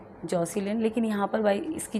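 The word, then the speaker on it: Jocelyn: सो आपका जो right option है वो हो जाएगा बी, जॉसिलिन। लेकिन यहाँ पर भाई इसकी जो स्पेलिंग है ना वो गलत दे रखी है, जैकोलिन नहीं है, इसकी स्पेलिंग होती है जॉसिलिन, JOCE।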